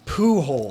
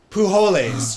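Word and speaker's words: Pujols: 700th home run is it's a pooh hole but it spelled like p-u-j p-o-j-o-l-s pujolas you would think right poo holidays if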